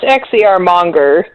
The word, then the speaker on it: XCRmonger: Oh, it's XCRmonger. Monger. Like a warmonger, but I used to monger XCRs.